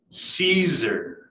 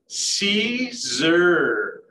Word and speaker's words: Siser: these Michael Zooms is how to properly pronounce Siser. All right, so say it with me, Siser. Yes, congratulations, you did it correctly.